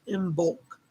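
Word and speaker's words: Imbolc: yes glittery room but it's spelled i-m-b-o-l-c in bulk but it comes from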